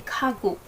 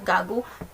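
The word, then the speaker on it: 가구: So, pinopronounce ba siya as gagu? No. Very wrong. Very wrong. Only very wrong. Okay, hindi siya gagu. So, it should be kagu.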